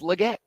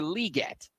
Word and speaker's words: Legette: called anything but Xavier Legette because this publication said it's actually pronounced Xavier liette until I actually talk